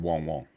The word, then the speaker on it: Wong: News over the years, she always said Wong Wong. How did we get Why it? has everyone said Wang Wang? That's how it's spelt, but So we've been getting it wong, wong, wong.